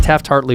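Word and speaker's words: Taft-Hartley: After and SAG merged, but Taft Hartley was how you got into the back door.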